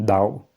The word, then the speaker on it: Tao: Mas os taoístas falam Dao, com D, né? Mas escrevem com T, tal, mas às vezes eles pronunciam Dao.